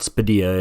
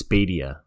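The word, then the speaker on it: Spadea: or Bill spedilla just saying or now I'm pronouncing that wrong someone said it's not spedia it's spadia that's right bill spadia before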